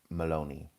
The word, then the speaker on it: Maloney: So I would say I knew a John Maloney. Maloney.